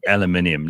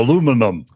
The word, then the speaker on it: aluminium: even know how to say aluminium, let alone spell it. So they just go aluminum.